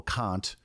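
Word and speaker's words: Kant: by God and then old Emanuel cun yes k a an T not [ __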